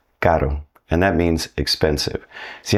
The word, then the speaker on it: caro: soft R, which is pronounced more like a tap on the roof of your mouth. Caro. Caro.